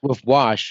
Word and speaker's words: WVSH: my god that's crazy bro so what wash I'm saying um and people don't know yet